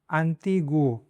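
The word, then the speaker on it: antiguo: बाकी अगर खे ऊ के बाद में आ आता है तो उसको ऊ को प्रोनाउंस करना है, जैसे कि ग्वापो। ग्वापो मतलब हैंडसम। अंतिगुओ, खे ऊ ओ, अंतिगुओ। अंतिगुओ मतलब एंशंट।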